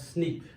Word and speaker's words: SNP: In the sequence of nucleotides that are present, sometimes what happens, we'll get single nucleotide polymorphism, in short SNP, but we can pronounce it as SNP.